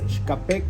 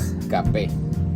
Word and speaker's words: Xkape: La X en el idioma local tiene la pronunciación de como la SH en inglés. Entonces, XKP Cobán, que traducido a español significa el café de Cobán.